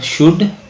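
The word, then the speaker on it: should: excuse me का मतलब अब शुड एल साइल शुड शुड नहीं बढ़ेंगे बच्चे होगा तो शड बढ़ेगा बड़ा होगा तो शड ब जिसको अल है समझ उसने सुनी हु है साउंड व ऐसे आपको नहीं पता था अब पता लग गया य शुड शुड बोला जाता है श है लेकिन बोलते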